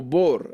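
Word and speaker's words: בור: fosa o tumba y se debe vocalizar como bor í cambia la la vaf se pronuncia como una O en vez de e interesante o sea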